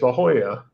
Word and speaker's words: La Jolla: I mean, it's like, it should be like Hola or something, but it's La Jolla.